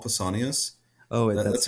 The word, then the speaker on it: Pausanias: Pausanias? I, Pausanias? I always thought of it in terms of like Paul, like the name Paul Pausanias.